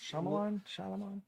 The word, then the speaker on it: Shyamalan: And so the last Shyamalan.